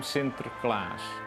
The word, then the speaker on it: Sinterklaas: started to call him sinterklaas in english saint sir class and when you pronounce it fast then you can see the class the netherlands were a